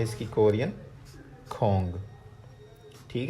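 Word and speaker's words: 공: ठीक है जी, यहाँ पे ये खे की आवाज़ देगा, ये ओ की, और ये जो हमारे पास साइलेंट होता था, जब ये लास्ट पे नीचे आता है या दरमियान में आता है, तो ये अंग या ओंग की आवाज़ देता है।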